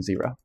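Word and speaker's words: Xero: So a zero which is spelled with an X by the way.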